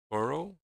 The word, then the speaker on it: borrow: Borrow is stressed on the first syllable. Borrow.